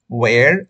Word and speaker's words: where: পরেরটা দেখুন, এটার উচ্চারণটা কোনো অবস্থাতেই হোয়ার আর ইউ ফ্রম বলবেন না, উচ্চারণটা করবেন ওয়ের আর ইউ ফ্রম।